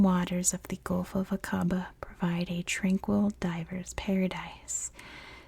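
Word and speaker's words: Aqaba: real quick I know in Jordan it's pronounced akaba but I'm pronouncing it the American English way so don't come for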